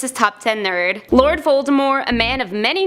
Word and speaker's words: Voldemort: The true pronunciation drops the T at the end of the name in true French fashion for the pronunciation of Voldemort.